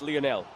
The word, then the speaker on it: Lionel: background with Lionel Messi sir it's lonel get it right goat's name lonel messii oh we've got mistaken